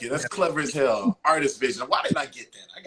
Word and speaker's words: RTS Vision: it's pronounced Artist Vision. If you really, it's pronounced Artist Vision. It's like RTS, but damn, that's a license RTS plate. Vision.